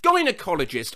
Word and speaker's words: gynecologist: Gynecologist. I thought it was pronounced with a J sound, like how the G in vagina is pronounced.